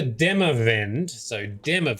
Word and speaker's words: Demavend: While admittedly putting more effort into the latter, after Demavend, that's how you say it, after Demavend's demise, pretenders to the crown sprang up like mushrooms.